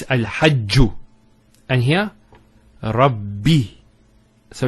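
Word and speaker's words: رَبِّ: The first ba takes a sukun, and the second takes a kasra. So it's Rabbi.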